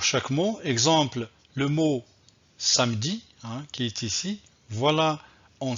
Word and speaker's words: samedi: que ici le nom le mot samedi un contient deux syllabes pas ce que je vais dire samedi samedi le mot à